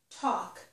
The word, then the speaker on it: talk: Another word that does have a silent letter is this word, talk.